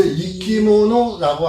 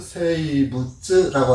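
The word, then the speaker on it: 生物: 갖다가 다른 말로 하면 세이부츠라고 하죠. 그렇죠? 세이부츠? 예. 생물 그렇게 쓰고 이끼모노라고도 읽고 세이부츠. 네. 이끼모노라고 읽기도 하고 이렇게 해서 글자를 한자를 각각 세이부츠 이렇게도 읽습니다.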